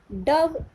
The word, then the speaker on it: dove: Dove, E. We are not pronouncing E, but the spelling of dove is D-O-V-E, dove.